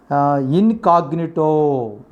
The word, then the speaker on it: incognito: Next, incognito. That is the next foreign expression. Incognito. That is the correct pronunciation.